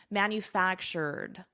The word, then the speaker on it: manufactured: I have my R, manufactured, and then I add a soft D, manufactured.